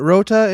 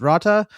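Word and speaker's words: Rotta: live action is that they changed his name or pronunciation cuz wasn't it Rota in in Clone Wars and now it's Ratta?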